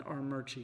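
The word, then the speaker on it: Armuchee: Now, is it Armurchie or Amuchi? Murchie. There's a invisible R that you pronounce in Armurchie.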